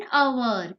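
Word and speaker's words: hour: यहाँ पर एन अवर, क्यों, यहाँ पर अवर है, हम सोचेंगे आगे एच है, तो क्या करेंगे, हम ए लगा देंगे, बट नो, यहाँ पर इसका साउंड आपको याद रखना है, अवर, उसका प्रोनाउंस अ से शुरू होता है, अ है, इसीलिए उसके आगे एन आएगा। दूसरा एग्जाम्पल देखते हैं, ऑनेस्ट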